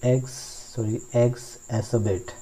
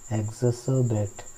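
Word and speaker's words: exacerbate: Next word अपने पास एग्जोबेट, एग्जसरबेट, आर को silent रखना है, क्या बोलना है, एग्जसरबेट, ओके, एग्जसरबेट, ओके गाइस।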